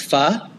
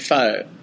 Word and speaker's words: pho: It reminds you how to pronounce pho. Whoa, true. Some people might be out there calling it pho. And they said it's fanatic. It reminds you of the word fanatic.